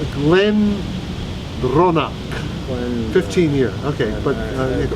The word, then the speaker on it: Glendronach: How do you pronounce that? Glen Ronak.